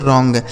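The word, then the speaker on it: wrong: इसे पढ़ा जाएगा दोस्तों रॉन्ग। डब्ल्यू आर ओ एन जी यहां डब्ल्यू साइलेंट है।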